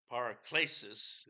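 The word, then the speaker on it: paraklesis: an ancient Greek word paracesis is the way that it would be pronounced and the idea behind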